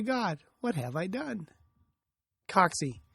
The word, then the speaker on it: Cocci: Coxy. It's pronounced Coxy, not Coccidioides, as in Coccidioidomycosis or Valley fever.